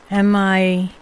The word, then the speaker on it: Michalec: And if you try and look it up, Mihal, that's how you say it.